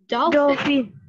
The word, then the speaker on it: dolphin: Và tiếng Anh mình có con này là dolphin. Oh, that's right. You know it. Very good. Dolphin. Mình sẽ đọc là dolphin. Đó, doll. Mình sẽ thành âm o nha con.